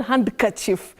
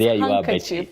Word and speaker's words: handkerchief: surprises handsome and handkerchief not hand chief that one is I think all of us would have missed it so it's handkerchief okay wow is it